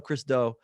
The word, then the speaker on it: Chris Do: I don't know how to pronounce his last name. It's Do. Chris Do.